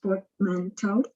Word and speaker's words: portmanteau: so the word i've chosen is portmanteau it's pronounced portmanteau it's a word that refers to other words